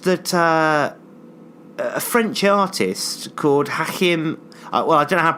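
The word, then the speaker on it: Hachim: a French artist could hack him well I don't have pronounces hack him Bauhaus I'm going to pronounce that H ACH I am and the surname bah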